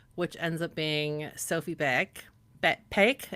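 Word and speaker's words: Baek: It almost sounds like it's like with a P at the beginning, right? But it's a A K. Yeah, it's spelled B A E K, but it it does kind of sound like pig bake.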